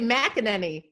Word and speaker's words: McEnany: always called you Abby mackaninee set the record straight how do you pronounce your last name well I say Makani I really can't I